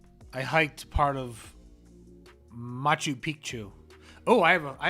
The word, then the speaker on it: Picchu: and Pichu means like Mountain but it's not pronounced Pichu it's pronounced piku so piku like piku cuz Pichu means a